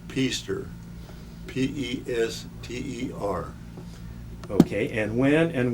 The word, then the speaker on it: Pester: be here okay would you please uh pronounce and spell your full name for us please peaster p-e-s-t-e-r okay and when and where were you